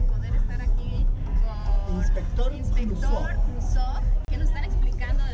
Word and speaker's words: Cluzo: ¿Cuál es exactamente la pronunciación from Crusoe? Crusoe. Así que no vayan a decir Crusoe. No empiecen con sus nacadas mieradas. Es Crusoe.